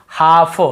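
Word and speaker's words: half: जैसे काफ काफ काफ हाफ हाफ काफ हाफ एल को यहां पे नहीं पढ़ना है। कालफ हाल्फ नहीं पढ़ना है।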